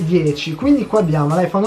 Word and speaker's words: iPhone X: iPhone, per la gente legge iPhone X, che cafonata è, però si legge 10.